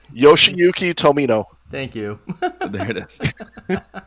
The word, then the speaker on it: Yoshiyuki Tomino: and everything, and also Yoshihiko Tamio. So Hopefully, by all means, I did not butcher that. I'm so sorry. You definitely butchered it. I'm sorry. How do you say it, Sean? Sean, Yoshiyuki Tomino.